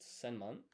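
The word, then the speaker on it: 千万: So, 10 million is pronounced senman.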